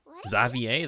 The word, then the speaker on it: Xavier: of the main class Xavier that's how you say it the Savior Xavier I was in the